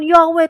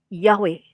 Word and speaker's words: Yahweh: sarjana kita itu mempunyai dasar untuk pelafalan Yahweh tapi bukan yeah gitu ya bukan saya